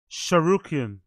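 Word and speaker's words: Tsarukyan: Big up game, but you don't pronounce the T, so it's Sharukian.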